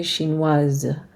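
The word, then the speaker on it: chinoise: it becomes to a shin was and now we can pronounce the S okay looking at these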